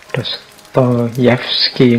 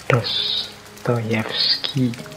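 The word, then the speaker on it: Dostoevsky: sastra suka dengan novel-novel jadi dostoyevski ini ini mengucapkannya harus agak pelan-pelan nanti kalau kepleset ya feodor mikhailovik dostoyevski ini membacanya kurang lebih seperti itu kalau tulisannya kadang-kadang Ada yang mengejanya dostoevski tapi membacanya biasanya Ya seperti tadi dostoyevski baik beliau ini filosuf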